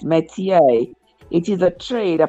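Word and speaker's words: métier: r met me Meer okay that's how it's pronounced Meer it is a trade a profession or occupation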